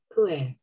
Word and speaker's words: pu'erh: How do you pronounce the T? Puer.